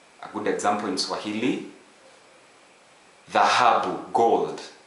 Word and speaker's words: dhahabu: We don't have that in English, but it could be pronounced as the word this. Okay? A good example in Swahili, dhahabu, gold, dhahabu, gold.